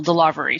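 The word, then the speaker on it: DeLarverie: delivery uh it's d-e-l-a-r-v-e-r-i-e she put the emphasis on that second syllable delivery stormy delivery uh uh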